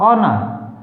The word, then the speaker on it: honour: HEI या एयर, HONOUR, ऑनर, ऑनर नहीं ऑनर, R bracket में लिखा है क्योंकि ये साइलेंट है।